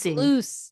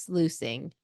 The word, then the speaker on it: sluicing: Yeah, actually, I don't think there is a word where you'd pronounce the U and the I.